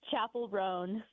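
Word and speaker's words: Chappell Roan: How do you pronounce the artist name? I honestly don't know. It's Chapel Ran.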